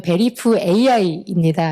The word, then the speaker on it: VERIFAI: 이게 보면 발음을 이렇게 베리파이 이렇게 하다 보니까 Y로 인식하시는 분들이 있는데 어 잘 보시면 베리프 AI입니다.